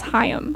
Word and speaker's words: Haim: too yes and um i think it's hayam okay because i said haim for a long time and i can't remember who was like no you're saying it wrong and i was like